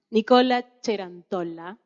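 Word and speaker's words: Nicola Cerantola: Bueno, me toca presentar a mí me gusta pronunciarlo en italiano, Nicola Cerantolla.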